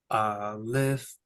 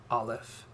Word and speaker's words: Aleph: Aleph is silent.